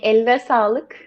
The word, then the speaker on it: eline sağlık: We say eline sağlık.